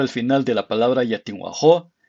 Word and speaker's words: Yatinwajo': final de la palabra ya tengo ajo se pronuncia como si estuvieras repugnando algo en vez de como